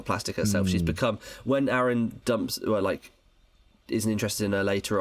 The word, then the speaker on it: Aaron: It is Aaron because it rhymes with Karen, and I think that in the stage musical they do like a joke about that.